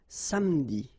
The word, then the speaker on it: samedi: Okay, same thing here, appeler, but then you get appeler, appeler, and then samedi.